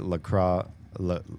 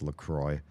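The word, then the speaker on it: La Croix: Kind of appreciate LRA. Oh, sorry. They're pronounced Lacroy.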